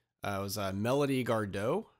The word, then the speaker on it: Gardot: It was Melody Gardot, G-A-R-D-O-T. I think it's Gardot, kind of like Stephen Colbert.